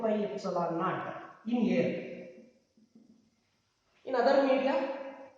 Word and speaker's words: epsilon naught: What is this epsilon naught? It has to be pronounced like this, epsilon naught.